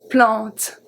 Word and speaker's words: plante: Plante. Plante. A-N make the sound en. So it's the same sound as E-N. I usually put E-N because it's a more common spelling than A-N.